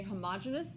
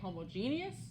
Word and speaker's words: homogeneous: Okay, this is pronounced 2 different ways. Some people you are going to hear say homogeneous. Some people you here are going to say homogeneous.